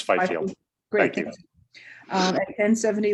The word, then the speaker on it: Fifield: Is that pronunciation correct? I see some nodding heads. Okay. Yes, Fifield. It's Fifield.